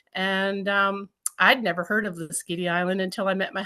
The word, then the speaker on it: Lasqueti: Could you please give us the correct pronunciation? It's called Lasqueti. No, I'm saying it wrong. Lasqueti Island. Lasqueti Island.